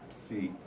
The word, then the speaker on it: psi: We call it psi, which is a Greek letter, actually pronounced psi.